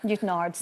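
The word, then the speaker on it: Newtownards: Speaking of your doorstep, your family moved to Newtownwards. Newton Ards, as we'd say back then.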